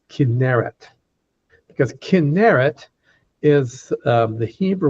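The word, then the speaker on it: Kinneret: Most Americans mispronounce it as chinit, but it's kinerit because kinerit is the Hebrew word for a harp.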